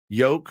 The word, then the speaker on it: yolk: Yolk rhymes with coke.